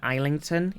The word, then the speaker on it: Islington: So the S is silent in Island, but suddenly it's not in Islington?